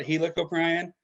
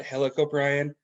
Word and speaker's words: Helicoprion: So there's a divide in the scientific community. I call it helicoprion. Okay. There are people that call it helicoprion, but I prefer helicoprion.